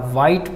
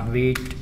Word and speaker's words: Vite: wheat wheat in laravel some developers are pronouncing this is a white but this is actually a wheat not white okay it's going to